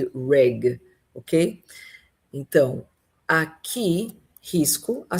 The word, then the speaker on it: rig: Olha só, a primeira é risk de risco e a segunda é reg de plataforma. Então, muito cuidado com essas duas palavras, risk e reg, ok?